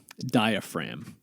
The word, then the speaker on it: diaphragm: be dia ph ram there's a silent g in there at the end so it's gm diaphragm with a g before the m yeah huh okay honestly